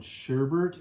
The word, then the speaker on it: sherbet: is called rainbows and if you're in pennsylvania it's called sherbert and everywhere else it's called trivit it's spelled sherbet we always always put